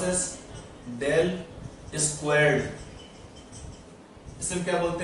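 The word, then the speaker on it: ∇²: ये क्या है, यहाँ पर क्या है, एक्स वाई जेड क्या है, स्पेस कोऑर्डिनेट्स, और इसे क्या बोलते हैं, प्रोनाउंस एज डेल स्क्वायर्ड।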